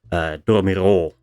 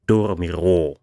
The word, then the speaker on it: dormirò: For example, dormirò, the ro syllable has a lower O, but the first syllable, do, has the higher O, so dormirò, to overpronounce.